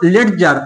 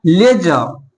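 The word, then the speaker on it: ledger: देखिए, इसे क्या पढ़ता है, अधिकांश लोग क्या पढ़ता है इसको, लेडजर। आप लोग भी इसे पढ़ते होंगे लेडजर, लेकिन रियल प्रोनाउंसिएशन क्या है, लेजर।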